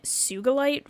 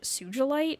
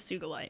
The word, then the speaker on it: Sugilite: some people pronounce it Sugilite or something like that. Apparently the word has Japanese origins though, and there's no soft G in Japanese, so I'm going with Sugilite.